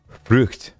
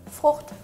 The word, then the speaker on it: Frucht: Frucht.